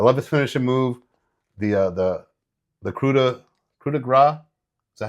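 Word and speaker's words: coup de grâce: I love his finishing move, the coup de grace. Is that how you say it? Yep. Thank you. My pronunciation of words is...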